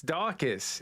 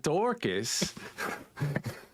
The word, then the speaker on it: Darcus: It's Darcus. It's not Dorcas.